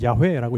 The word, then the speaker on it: 야훼: 자, 그런데 여기에서는 여호와, 이제 원래는 야훼라고 읽죠.